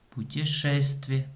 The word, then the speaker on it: путешествие: Путешествие. Ударение на букве Е.